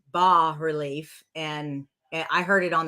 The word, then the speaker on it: bas-relief: faux uh boss relief it's Bas but you'll hear you'll hear like the Anglican or the the American way we say bass relief well really it's ba relief and I heard it